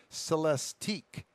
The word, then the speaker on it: Celestiq: upcoming cadillacs the lyric lyric uh-huh lyric and that's spelled l-i-l-i'm sorry l-y-r-i-q and the celestique c-e-l-e-s t-i-q end with the same two letters